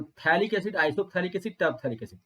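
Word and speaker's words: isophthalic: और अगर एक यहाँ पर हो और एक यहाँ पर हो तो इसको बोलते हैं आइसोथैलिक, पी साइलेंट होता है, तो आइसो PHTHALIC, आइसोथैलिक।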